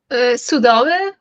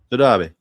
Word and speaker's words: Sodabe: How do you say your name? Sudave? Sodabe. Yes.